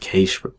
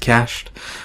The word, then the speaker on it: cached: a pre evil I would always call it case people complain and tell me it's pronounced cached so it's a pre cached variable for this